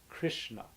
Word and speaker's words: Krishna: Krishna means the supremely attractive nature of the divine, including beauty and knowledge and wisdom and strength. It is pronounced with a short I, meaning like this: Krishna.